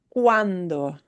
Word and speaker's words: cuando: The word for when is cuando. Cuando. U-a, u-a, u-a, wa. Right? This was we. This is wa. We pronounce each vowel, they just slide together. So we have cuando.